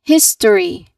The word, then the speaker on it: history: Next, history. History. We study world history. Again, we study world history. Your turn. Excellent. You say all 3 syllables here.